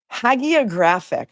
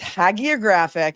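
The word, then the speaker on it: hagiographic: Hagographic. I pronounced it wrong. It's haggioraphic and it means excessively flattering.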